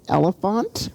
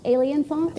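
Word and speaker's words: Alienfont: Um, and uh I want I don't want to mispronounce um her website is elephant. Alien font. Alien font. Yeah, it's a hybrid of alien and elephant put together.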